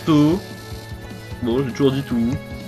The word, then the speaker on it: Touhou: Moi je dis tout, mais je pense qu'officiellement ça se prononce Toho.